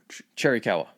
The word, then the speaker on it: Chiricahua: Yeah, so eventually he does end up surrendering to Gatewood, and the remaining Chiricahua, did I pronounce that right? Chiricahua.